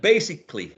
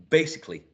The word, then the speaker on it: basically: see the next one b c Le four syllables try with three that's a good one is it basically excellent basically you got it basically basically essentially basically essentially this uh which is